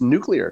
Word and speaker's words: nuclear: I think the biggest news from story number three is that for the first time since we've done the show, you pronounce nuclear correctly.